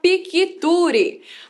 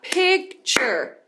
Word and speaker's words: picture: Quando a gente olha para essa palavra, a gente vai achar que tem várias sílabas, né? A gente vai ser induzida a falar picture. Mas na verdade vai falar picture.